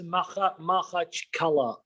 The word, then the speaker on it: Makhachkala: Are you in Makacharaka? I believe that's the name. Is that Maka? Am I saying it right? It's Makhachkala. Makhachkala.